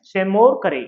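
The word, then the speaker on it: Seymour Cray: सेमोर करे। ये साइल silent होता है।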